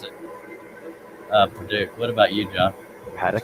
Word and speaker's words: Paducah: I pronounce it Paducah.